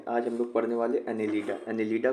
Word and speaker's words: Annelida: ये खून खराब कर रहा है, इसी को समझ लो क्या है ये, एनेलिडा। एनेलिडा से अनिल कपूर, ठीक है।